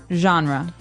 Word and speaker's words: genre: We say genre. Genre. Or genre. This kind of sounds French. Is it French? I think it comes from French. It's a G-E word, so genre. It's a soft sound.